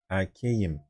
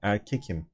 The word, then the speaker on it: erkeğim: The K needs to soften if it is followed by a vowel. So like we have E here. So we need to change this K into this soft G.